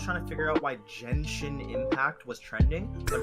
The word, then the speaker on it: Genshin: because I was trying to figure out why Genshin Impact was trending, but it's just because I'm guessing they pronounced Genshin Impact weird.